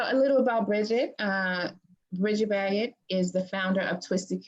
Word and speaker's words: Baggett: No, it's Bridget Baggett. You're right.